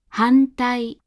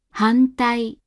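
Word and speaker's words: 反対: Before T, D, and N, the hatsuon is said as a standard Japanese N. Here are a few examples of this. 反対、反対、反対。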